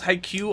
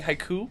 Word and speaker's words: Haikyu!!: volleyball phenom haikyuu man CJ didn't like how we pronounce haikyuu all of last episode because we kept saying Haiku yeah haikyuu I thought they were talking about three Japanese poems something there's something against